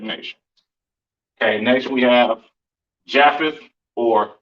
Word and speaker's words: Japheth: Yah path. The pa and tha sound connect at the end of that word.